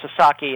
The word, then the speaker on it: Sasaki: And uh Joshu Sasaki and I should uh make it clear it's it's pronounced Sasaki and uh Americans and Canadians uh sometimes have trouble with Japanese names and it's very understandable.